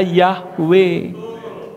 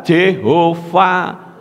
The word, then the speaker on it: Yahweh: Lah YHWH itu selalu membacanya Yahweh, bukan juga Jehovah.